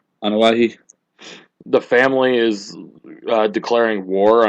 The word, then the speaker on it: Anoa'i: What's this about the Anoa'i? I think that's how Rikishi pronounced his family's name. Anoa'i.